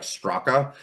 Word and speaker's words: Straka: My last name is spelled Straka, like Straka.